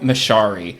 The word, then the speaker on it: Masciari: And we are very happy to have writer and director of Stationed at Home, Daniel Mashari.